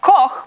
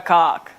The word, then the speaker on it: Koch: It's meant to be pronounced Koch, but if you're living in an English-speaking country, 8 out of 10 times I am Olga Koch.